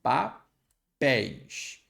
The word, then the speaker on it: papéis: O ei está na sílaba tônica, papéis. E ele é fechado, melhor, ele é aberto. Ei, ele não é fechado.